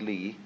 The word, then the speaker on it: li: another meaning of a word pronounced lee later on but it's quite a different word li is justice but you can't write